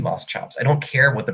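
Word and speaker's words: Moschops: and mine Moss chops some people say Moss cops I just I feel like has to be Moss chops I don't care what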